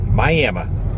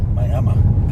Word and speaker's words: Miami: Pronounced Miami. Took me the hardest. Took me a long time to ever get used to that. How people say Miami. Miami.